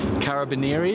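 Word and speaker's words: Carabinieri: It's Carabaneri is how you say the type of police that have helped me out and given me this generous treat.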